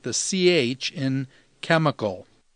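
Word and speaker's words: ψ: ki sounds like the CH in chemical C sounds like the PS in lips Omega sounds like the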